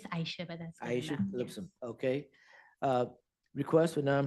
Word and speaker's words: Aisha: Did I pronounce that correctly? It's Aisha, but that's.